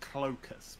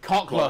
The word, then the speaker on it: Cockless: So, You pronounce it Clocus? Cockless. It's Cockle. It's Cockless.